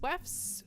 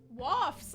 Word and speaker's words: wafts: Joseph's backyard is already packed with people, and the smell of hot dogs, waifs. How do you say that word? Waifs. Through the air? Waifs. Through the air. What? Wafts. I was wrong.